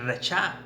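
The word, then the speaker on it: רֶשַׁע: palabra 75 68 62 que se pronuncia la es la palabra racha que viene siendo impiedad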